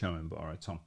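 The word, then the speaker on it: Thom: and thousands of creators Tom is it Tom it's t h Tom so anyway ABS bjoras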